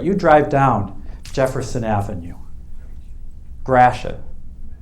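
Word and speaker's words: Gratiot: drive down jefferson avenue grashan there's a detroit pronunciation for you if you ever heard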